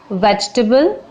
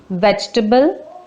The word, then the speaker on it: vegetable: Vegetable. E is silent here. Vegetable.